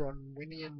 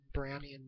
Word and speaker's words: Brownian: um it's just a brunnian random talk brownan sorry I keep pronouncing it wrong Brownie and motion Brownie and motion